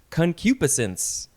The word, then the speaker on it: concupiscence: So this first word is, I think it's pronounced concupiscence.